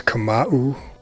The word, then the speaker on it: Kamau: How you pronounce your first My name? name is Kamau Kamau.